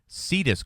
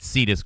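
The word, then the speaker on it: Cetus: Lederberg and Cohen, the Stanford colleagues, signed up as consultants to Cedus Corporation in Berkeley, California, which sought to capitalize on gene splicing activities.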